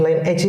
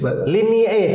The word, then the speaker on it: lineage: Lineage. Dibacanya lineage. Ya, dibacanya lineage. Kalau line edge saya jadi gamer.